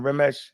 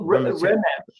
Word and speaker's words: Remechet: Am I saying it wrong? Remesh. Well, Remechet.